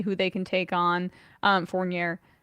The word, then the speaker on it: Fournier: Finally, move that Evan Fournier contract, see who they can take on. Fournier. I said it right the first time.